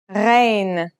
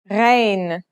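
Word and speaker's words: غين: a DOT on top its sound is similar to the sound you make when you gargle a sound that comes from a point deep in the throat listen carefully rain let's write it down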